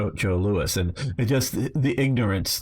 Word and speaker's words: Joe Louis: Well, he fought Joe Louis, not Joe Louis. Now, it's spelled the same way like Louis the 14th, but it's pronounced Joe Louis.